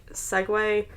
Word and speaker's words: segue: I just realized about a month ago that segue, like when it's used in text, is spelled S-E-G-U-E, like segue, because I looked at